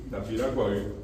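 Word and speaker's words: Tapiracuá: Y allí tienen ustedes yetecua, bopica, eh llegando a Santaní está un lugar que se llama Tapiracua y decimos hoy en realidad pronunciado correctamente es Tapira, tapira cuagir.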